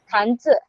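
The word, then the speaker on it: 汉字: Kalau Z misalnya dalam kata hanz hanze bukan Hanzi kan dibaca bukan Hanzi tapi hanze.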